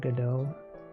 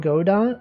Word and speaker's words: Godot: I love Godot.